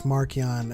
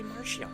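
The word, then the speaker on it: Marchion: Charles Soule says on Twitter that it's Markion, and then like Tempest And in Runner the comes books, out. they say Martian.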